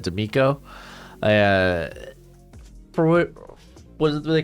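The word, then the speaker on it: DeMeco: People gave me a lot of crap for mispronouncing, not even mispronouncing, but like I kept saying DeMarco Ryans instead of D'Amico.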